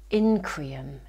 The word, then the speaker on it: Increatum: We have Increatum, that is how you say it, the uncreated.